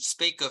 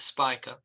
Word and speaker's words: Spica: I've uh look I I've produced it pronounced it speaker for years but the actual pronunciation is Spica uh and so uh